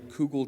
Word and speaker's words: kugel: Unfortunately, kugel did not make my list, though I'm certain